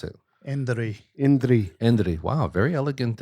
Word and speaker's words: Indri: How do you pronounce it? Indri.